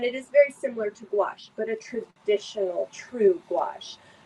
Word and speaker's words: gouache: Gouache, so it's spelled funny. It's Gouache, and it's a paint that is, I'm trying to think, It's a very organic, very earthy, basic, traditional paint.